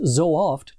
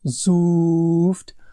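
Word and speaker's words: sooft: Pro tip, it isn't zooft or zoft or soft or any of those other pronunciation errors that you are trying. The correct pronunciation is two completely separate different sounding O's. The first one is a long O in so. The second one is a short O in oft.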